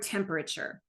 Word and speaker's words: temperature: For example, the word temperature. It's almost decodable. A student just needs to learn that the vowel A in the 3rd syllable says the schwa sound, So research clearly shows